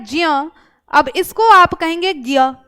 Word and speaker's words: ज्ञ: हम लेखन से भिन्न नहीं करते क्या उच्चारण हम लिखते तो ज और य है लेकिन उच्चारण हम क्या कर रहे हैं इसको अगर भाई ये आपका ज्ञ होता तो ये ग और य से मिलकर बनता कि नहीं बनता सीधी सी